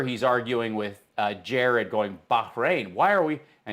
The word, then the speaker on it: Bahrain: arguing with Jared, going, Bahrain, why are we, and he's not pronouncing it properly. Bahrain, brain, why are you bringing me brain?